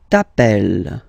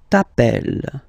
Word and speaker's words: t'appelles: All right, second form, tu t'appelles. Okay, remember, final S not pronounced. Tu t'appelles.